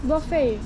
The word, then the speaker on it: buffet: Is it, you don't pronounce T, it's buffet, isn't it? Yeah. T is silent.